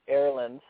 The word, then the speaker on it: Erland: um well uh it is uh it is pronounced Erland um and it's actually my first name um